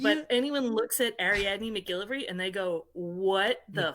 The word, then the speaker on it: MacGillivray: My last name is MacGillivray.